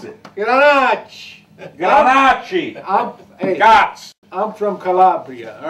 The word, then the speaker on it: Grenache: 40%, I'm sorry, 60% Grenache and 40% Elegante.